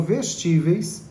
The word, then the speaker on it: vestíveis: A expressão vestíveis recebe o acento porque é uma proparoxítona. Não, não, não. Ela tem três sílabas e ela tem a tônica no ti. Então não é a antipenúltima.